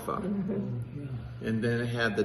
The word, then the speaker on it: Apocrypha: Uh Daryl, help me pronounce this right. The Apocrypha. Apocrypha.